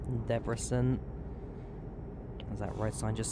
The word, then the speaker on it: Debrecen: Debrecen, as that's pronounced. Debrecen.